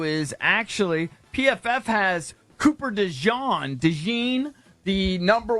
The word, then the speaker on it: DeJean: I'm going to draft the best corner in this draft, Cooper DeJean. Dejan. I don't even know how to say his name. I'm going to guess it's Dejan. It's Dejean.